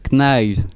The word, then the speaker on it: Knives: du groupe Concrete Knives. Exactement. Bon, t'évites de dire le K parce que Ah oui, c'est vrai. prononciation. Oui, rappel de Monsieur Lozel, on dit knives, knives.